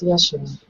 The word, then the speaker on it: Yeshua: I just heard the words of you pronounce it Yeshua? Correct. Yes, Yeshua.